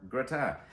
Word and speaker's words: gratin: And today we're doing a cauliflower gratin. That is pronounced gratin, not gratin. Not Gratin. Somewhere in the middle is a gratin.